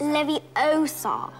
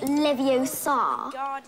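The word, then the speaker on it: Leviosa: I can totally relate you're saying it wrong it's Levi Oar not Lev Oar you do it then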